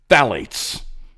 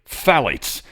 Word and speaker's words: phthalates: Phthalates. I think I said it pretty close to perfectly. Phthalates. Phthalates, really. Just the pH is silent.